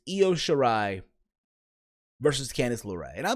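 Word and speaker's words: Io Shirai: you shitty wrong is it's not leo you know I'm I said it right calm the down I is yo sure I versus Candace Laura and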